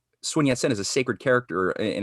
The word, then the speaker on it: Sun Yat-sen: And how do you pronounce this guy's name? Sun Yat-sen? Oh, Sun Yat-sen, yeah.